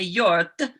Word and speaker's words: Hjorth: you spell your name i spell it h j o r t h and it's norwegian but in norway they would say yort and yeah nobody'd ever